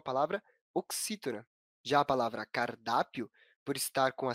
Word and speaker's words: cardápio: Já a palavra cardápio possui acentuação na penúltima sílaba, na sílaba mais forte, a sílaba da.